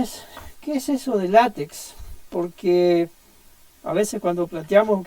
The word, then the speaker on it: LaTeX: De hecho, la pronunciación sugerida es, en el contexto académico, decirlo látex, pero prefiero asociarlo más al nombre que nosotros leemos y que es más práctico para recordarlo.